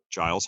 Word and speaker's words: Giles: And I said to my friend, he's like, it's pronounced Giles. And he said, well, she's the teacher, she would know. Like, I know how to pronounce my own name.